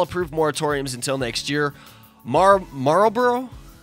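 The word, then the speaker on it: Marlborough: moratoriums until next year Marlboro Marlboro like the cigarette Marlboro it's spelled differently is still considering a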